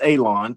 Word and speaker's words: Alon: Uh, by the way, my name is Alon, pronounced like you're going to cut grass, like you're going to cut a lawn.